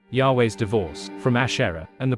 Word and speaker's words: Yahweh: Many modern scholars deduce that YHWH, which I shall dare to pronounce, as Yahweh, appropriated Asherah's powers and functions.